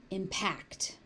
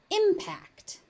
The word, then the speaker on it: impact: As a verb, it is impact. As a noun, it is impact.